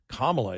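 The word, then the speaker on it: Kamala: get the first email you guys are pronouncing her name wrong it's kamla it's not kamaga when you said that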